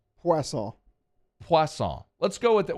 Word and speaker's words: Poisson: Thank you to Drake Poisson. Did I say it right? Poisson?